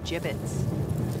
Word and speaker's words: gibbets: out of here Hey look Avery had some gibbets leftover gibbets what it's pronounced jib ins are you sure yeah well no one likes